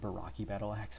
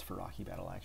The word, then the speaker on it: Faraki Battle Axe: Oh man, I want to pronounce it Baraki Battle Axe, but it's Faraki Battle Axe.